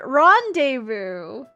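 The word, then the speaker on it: rendezvous: Rendevu.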